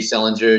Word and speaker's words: Selinger: It's Selinger, just like JD Salinger, Catcher in the Rye.